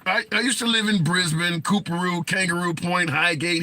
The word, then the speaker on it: Brisbane: with all those but most Americans say Brisbane which is not how you say it anyway does matter so